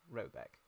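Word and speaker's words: Råbäck: in question is called to be called robic pronounced something like robec though that is not its name it is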